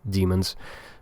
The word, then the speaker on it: daemons: Demons or daemons, whatever they are. I think it's just a spelling thing. They are pronounced as demons.